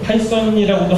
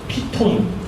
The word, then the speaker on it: 파이썬: 그때 굉장히 많이는 했죠 파이썬이라고도 하지도 않는 피톤 외국인들은 파이썬이라고 발음을 했었는데 그때도 이제 뭐 한국